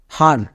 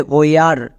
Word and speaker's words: where: একসঙ্গে উচ্চারণ হয় আর, তাহলে হ প্লাস আর, হার। কিন্তু আমরা এই শব্দকে এরকম উচ্চারণ করি না, এটা কিন্তু নিয়ম অনুযায়ী হবে না, তাই তো এটা হচ্ছে সাইট ওয়ার্ডস। এর জন্য উচ্চারণটা হবে হোয়ার, হয়ে আর, একে একসঙ্গে উচ্চারণ করা হয় হোয়ার।